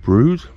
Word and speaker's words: Brewood: mary's catholic church of brood and if anyone was wondering how brood was spelt that is how brood is spelt and there we have